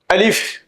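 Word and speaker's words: ألف: আমি হরফগুলো যেভাবে উচ্চারণ করি হুবহু সেভাবে উচ্চারণ করার চেষ্টা করবেন। আলিফ।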